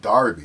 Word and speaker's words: Derby: break and he goes i should know it's pronounced darby because i'm i was from there i used